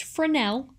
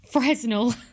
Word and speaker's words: Fresnel: wave or a particle now a chap called fresnel so apparently it's pronounced fresnel not fresno oh universe wept becky entered who wasn't necessarily